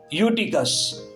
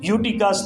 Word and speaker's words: Eutychus: वहां जो स्पेल है वो है EUTYCHUS, यूटिकस, ई साइलेंट है शुरू में, यूटिकस।